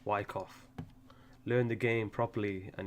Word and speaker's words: Wyckoff: And all of that is Silent C, Wyckoff.